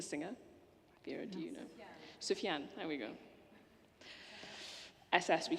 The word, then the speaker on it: Sufjan: Should I take how do you pronounce the name? Sufjan Stevens, the singer? Vera, do you know? Sufjan, there we go.